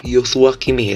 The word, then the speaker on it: Joshua Kimmich: Bacanya Joshua Kimi ya.